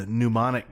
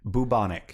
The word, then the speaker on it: pneumonic: The guy that he killed happened to have the pneumonic plague. Bubonic. No, pneumonic. Pneumonic. It's a mnemonic device. Spelled like pneumonia.